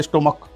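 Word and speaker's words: stomach: यहां एक शब्द आता है स्टमक एस टी ओ एम ए सी एच। अब यहां सी एच का जो उच्चारण होता है च न के क हो रहा है स्टमक।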